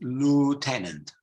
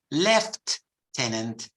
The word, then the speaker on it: lieutenant: El posto Commander posto in American English it's Lieutenant Lieutenant okay but in British English they invent more words they pronounce it left tenant left tenant and of course you